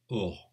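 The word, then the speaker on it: אור: Et à ce moment-là, on écrit le terme qui veut dire lumière, Or, Aor, qui s'écrit Aleph, Vav avec un point au-dessus, Reich, Or.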